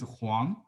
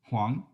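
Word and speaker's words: 黄: uh family name okay huang meaning yellow like huangshan you know the pronunciation could be one in is the same w-o-n-g but in mandarin is huang wang the same in cantonese means grandfather a gentleman mister you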